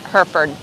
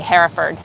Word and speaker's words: Hereford: hereford beef burgers and if you are american you would pronounce that hereford but here in england we say hereford and hereford beef is